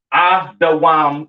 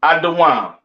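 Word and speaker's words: אדום: Pronounced Adawam in the Hebrew, all right? Edom, Adawam. Excuse me.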